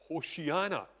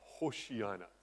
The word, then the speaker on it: Hosanna: and he says that we should not pronounce the word Hosanna, but Hoshiana. Doesn't quite fit with the singing, however. But that's apparently how it should be pronounced, not Hosanna, but Hoshiana.